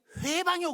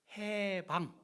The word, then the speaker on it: 해방: 발음이 해방해야지 회방해요. 그러면 안 되죠. 해방. 해방입니다. 회가 아니에요.